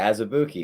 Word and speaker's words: Azubuike: He's the Kansas guy, Azubuike.